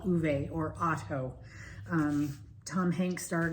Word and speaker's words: Ove: I always said Ove. After watching the movie, I now know it's pronounced Uwe. Uwe.